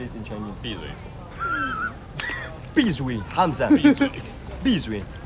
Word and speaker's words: 闭嘴: Bizui Hamza. Bizui. It's so hard to pronounce Chinese words wrong.